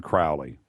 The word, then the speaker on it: Crowley: the definitive work on Crowley it's actually Crowley I'm sure Tobias is